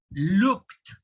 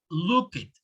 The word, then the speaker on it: looked: it okay this is very important the correct pronunciation is helped the next one looked looked notice that i have the and that looked okay not look it be careful with those when the word ends